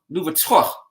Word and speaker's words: Louverture: Louverture.